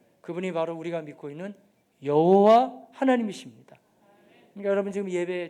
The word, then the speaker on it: 여호와: 여호와, 여호와예요. 근데 이제 어떤 분들은 또 이래요. 여호와는 정확한 발음이 아니에요. 한번 들어보셨어요? 야훼라고. 야훼?